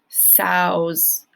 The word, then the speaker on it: sow: female pigs are called sows the word sow rhymes with cow this sow has given